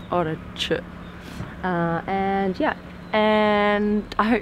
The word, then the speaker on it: Orochi: That's our experience with the Mitsuoka Orochi. Orochi. You're not meant to pronounce the last bit. Orochi.